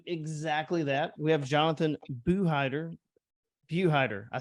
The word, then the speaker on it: Buhidar: We have Jonathan Buhidar.